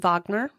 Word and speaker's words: Wagner: the the names Walch Wagoner which I'm pretty sure over there would be pronounced Ed Vagner while child Wagner was